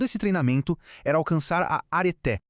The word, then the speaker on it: areté: E o objetivo final de todo esse treinamento era alcançar a areté, a pronúncia é arete, que significa excelência ou virtude.